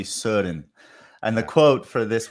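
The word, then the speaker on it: Søren: so i can't remember trying to pronounce soren kierkegaard sudden kierkegaard certain kierkegaard just like odigord this would be kierkegaard and it would be surin and the quote for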